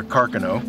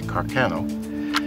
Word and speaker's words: Carcano: This is a 6.5 millimeter carcanoe. Oh, it's the proper pronunciation, although most Americans say carcanoe.